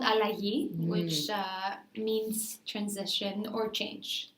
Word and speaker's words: Allagi: butcher the spelling or the pronunciation can you pronounce it for me yeah it's called I like ye which means transition or change okay great and